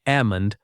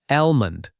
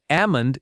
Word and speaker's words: almond: Many native speakers drop the L sound. It sounds like ammon, not almond. Both pronunciations exist, but amund is more common in American English.